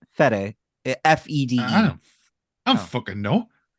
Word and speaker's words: Fede: Freddy Alvarez. There we go. Say his name again. The first name. What? Freddy? It's Fede.